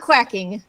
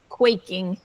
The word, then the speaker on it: quaking: yeah so send yeah not quacking quaking yeah quaking that's good so who a duck qux for example q u a c k so when no or